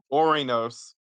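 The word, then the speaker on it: Ouranos: Yeah, but remember our boy, remember our boy Uranus? Uranus? Yeah, Sorry, I am a yeah. child at heart. You are, you are. But I'm gonna switch the pronunciation to Orinos again, just to Oh, avoid that.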